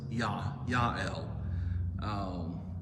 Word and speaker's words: Jael: Barak, and Jael, which, since it's a J, we always say J. There's no J in either Hebrew or Greek, so it's Yael.